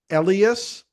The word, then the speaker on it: Elias: And one thing I am learning tonight, uh that I got uh on on back channel is that I've been mispronouncing your name. It is IAS.